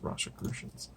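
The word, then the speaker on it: Rosicrucians: I guess Rose Rosicrucian z-- that's how it's pronounced Rasha crucians they have tons of ads in these I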